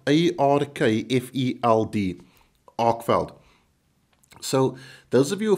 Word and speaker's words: Arkfeld: I probably am not, but it's spelled A-R-K-F-E-L-D, Arkfeld.